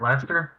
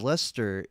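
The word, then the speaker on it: Leicester: called uh it's pronounced uh i think they pronounce it lights life sister blaster lester lester and it doesn't even look like luster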